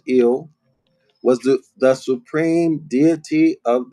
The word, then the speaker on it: El: So El, the ancient pronunciation is Il, was the supreme deity of the Hebrews and a male.